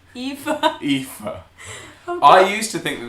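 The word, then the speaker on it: Aoife: fifa which how to say it i wait pronounced eva i used to think that this was fiona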